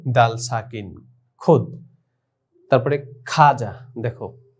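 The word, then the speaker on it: خواجہ: এখানে আমাদের মন চায় যে আমরা এটা বলি খাওয়া যা, কিন্তু না, আমাদের মন চাইলেই হবে না। উর্দু ভাষার যে উচ্চারণ সহিভাবে করতে হলে আমাদেরকে এটাকে খাজাই বলতে হবে।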